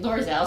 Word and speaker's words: Loerzel: I'm your host, Dawn Santoriello, and I'm here with Loerzel. Wait, did I pronounce that right? Loerzel, sorry.